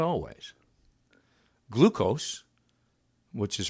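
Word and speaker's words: gleukos: Glucose, which is pronounced, glucose, G-L-E-U-K-O-S, glucose.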